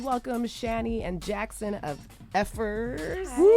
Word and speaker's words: Fcukers: Effers. Okay, cool. Cool. Cool. It implies how we actually pronounce it.